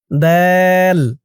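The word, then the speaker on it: ضاد: ধরুন দল দল দ আপনারা অনেকে বলেন দুয়াদ সোয়াদ দুয়াদ এরকম করে কিন্তু অনেকেই বলেন বলতে হবে দল মদ দে মদ তো এই দুইটা অক্ষরের উচ্চারণে আপনারা কিভাবে মিস্টেক করেন?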